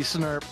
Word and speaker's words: snurp: Oh, give me that tasty snurp. My, oh my, Dither. Snurp is such a wet word. Yes. Prunes. It's true. They're prunes. They're prunes. It's because snurp rhymes with slurp.